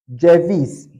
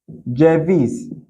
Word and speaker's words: ceviz: This letter is called J. J in Turkish language. It is called J. For instance, we have ceviz, ceviz, ceviz. We have Ceylan, Ceylan. That is how you are going to pronounce this letter. Anywhere you see it, J, ceviz, Ceylan.